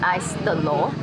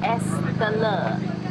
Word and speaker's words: es telur: I keep saying ice telur, which I think sounds like ice egg. The lady didn't understand me when I tried to order it the first time around. I think the correct way to say this is es telur.